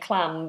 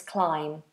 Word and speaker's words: climb: I've heard actually lots of people saying clam, but it's not. It's climb. Climb.